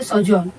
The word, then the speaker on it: sojourn: इसको प्रोनाउंस कैसे करेंगे? सोजॉन।